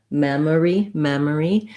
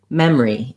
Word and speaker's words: memory: syllables, memory, that people, native speakers may reduce this word to sound more like memory, in which case they just get rid of that middle syllable they go right from the M, the second M of mem, into the R of re, memory.